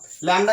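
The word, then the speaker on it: lambda: Pronounce करते हैं लैम्डा कहते हैं।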